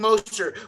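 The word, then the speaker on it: Mostert: master to the dolphins is that how you pronounce his name moster yeah raheem moster what i remember about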